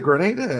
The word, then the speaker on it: Grenada: grow peaches in Grenada for is was it Grenada?